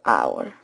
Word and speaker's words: hour: spelling over here friends when you listen to this word hour carefully you hear only our sound the Ed is silent